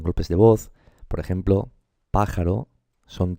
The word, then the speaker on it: pájaro: Sí, se dice pájaro. Entonces, esta es la sílaba tónica, ¿vale?